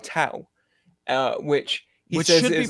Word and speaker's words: Tao: talking to him about a legendary place called Tao uh which which is pronounced Dao yeah yeah but they everyone in the movies